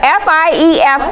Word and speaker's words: fief: do you spell that does anyone know I fi e F but it's pronounced fief okay over here to shun them